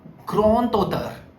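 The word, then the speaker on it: grand auteur: So that d will change to t a groto. So d will become t the sound of d will become t. So it is groto groto.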